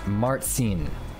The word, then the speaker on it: Marcin: But I looked it up, how to pronounce Marcin, and traditionally it's pronounced Martsin. It's related to English Martin.